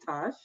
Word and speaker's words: Tatch: I want to thank Nathan for digging deep into the history of the name and pronouncing it with its Prussian pronunciation, which is Tosh. But I am Tatch, and I am the